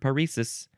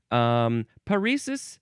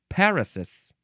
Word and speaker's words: paresis: I want to look up this word paresis. Literally, I was like two or three pages off. Paresis, that is how you pronounce it. You can also pronounce it parasis.